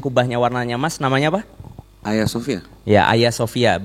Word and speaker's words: Hagia Sophia: warnanya Mas namanya apa Sofia Bacanya jangan Hagia Sophia ya jangan ya itu nggak Pro kalau kata Ustadz Felix Ya karena dia di tengah itu nggak dibaca Jadi bukan Hagia tapi hanya Sofia bukan Erdogan tapi iya